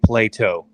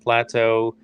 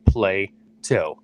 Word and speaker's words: Plato: pronounce his last name plato okay that's the first thing you need to know not plateau and all the other funny ways we've been saying it on the show is play two and uh he's been